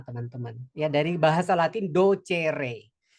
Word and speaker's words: docere: dari bahasa Latin docere ee pelafalan eh Latin itu letterl seperti tertulis ya.